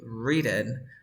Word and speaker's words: written: Pronounce W in English we never Pronounce W in this word we say re no